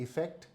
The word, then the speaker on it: effect: Effect, इसका pronunciation भी थोड़ा अलग है। ये है इफेक्ट और ये है अफेक्ट।